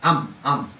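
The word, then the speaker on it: עם: 그러니까 이 백성, 여기서는 히브리어 암입니다. 영어로도 암이지만 히브리어로도 암이라고 발음을 해요. 암.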